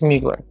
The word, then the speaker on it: Mugler: And this is the alien goddess from, is it Mugler? Yeah, that's how you pronounce it. It's Mugler.